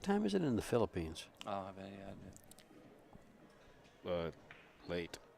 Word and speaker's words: Philippines: For those of you, what time is it in the Philippines?